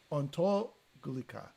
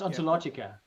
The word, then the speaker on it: Ontologica: How do you pronounce that? Ontologica. Yeah, it's Latin. Moore's Ontologica.